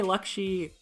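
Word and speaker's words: Laxi: And I say Lakshi, I pronounce it like Lakshmi, without the M.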